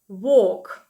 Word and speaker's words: walk: витягуємо губи трубочкою, «work», а в другому слові так само є літера «w», вона читається так само, як «w», але наступний звук – це «o», «walk».